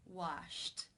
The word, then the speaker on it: washed: you pronounce this word the final sound an infinitive form is Shh the unvoiced SH sound since it is unvoiced it is case one where the e D is pronounced as a T washed washed how do you